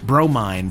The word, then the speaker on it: Bromine: Bromine, pronounced Bro, Mine.